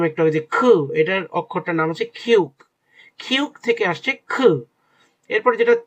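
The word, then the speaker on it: 키읔: এটার অক্ষরটার নাম হচ্ছে খিউক।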